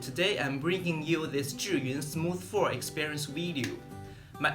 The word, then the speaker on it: Zhiyun: because I'm Chinese I know that the correct pronunciation is Julien the name consists of two Chinese characters means